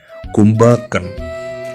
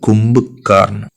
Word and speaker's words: Kumbhakarn: And then we can see Adityaroykapur, who is just there on the road trip with a pet owl, Kumbhakan. I think I mispronounced it. The owl called Kumbhakarn.